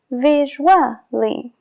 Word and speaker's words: visually: Y lo que pasa es que se juntan las dos y crean el sonido WA. Casually, visually, equally. Y por eso se pronuncia, porque forma una combinación con la vocal anterior.